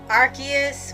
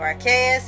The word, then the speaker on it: Arceus: along with this film arceus or archaeous and the jewel of life whichever pronunciation you go with as the menace of